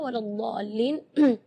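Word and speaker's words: وَلَا الضَّالِّينَ: Di kalimat ini juga waladhdallin yang perlu diperhatikan adalah madnya juga. Mad di situ kita harus panjang membacanya 6 harakat karena di situ hukumnya mad lazim kalimi mutsaqqal. Jadi membacanya waladhdall 6 harakat.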